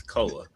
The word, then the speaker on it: Koa: It's Koa. Is it Koa? What did I say? Koi Koi, Pete? like he's a fish. Because it looks like koi. It looks more like koi than koa. It's KOA.